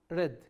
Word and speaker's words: read: It's written like read, R-E-A-D, but pronounced as red color.